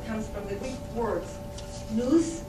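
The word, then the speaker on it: νοῦς: The famous nootropics, this term comes from the Greek words nous, I will pronounce it nous and nous, which means mind, and trope, meaning to bend, to turn, or what we call neuroenhancers.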